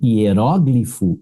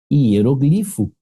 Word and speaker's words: hieróglifo: Que essa criatura aqui, ó, ela tem dupla prosódia. Ao mesmo tempo que eu falo hieróglifo, eu posso falar hieroglifo. Beleza? A outra pronúncia seria sem o acento, mas aí ela se torna paroxítona, né? Porque aqui ela é pro, né? Hieróglifo, tá vendo? Hieróglifo. E aí, a segunda pronúncia correta dela seria hieroglifo.